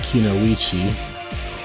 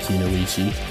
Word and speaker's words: Kunoichi: Because Neji, she doesn't want to share Naruto with anyone, because she believes that the strongest Kunoichi, that's how you pronounce it, a female ninja, Kunoichi, should have someone as powerful as Naruto.